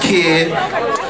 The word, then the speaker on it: KKID: at the first annual kkid right pronounced kid some of y'all don't